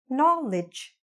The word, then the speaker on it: knowledge: Lidge, knowledge. Isn't it much easier? Don't you find it much more enjoyable to say this word than this word? I hope so, okay? Knowledge. Lidge, no. Knowledge.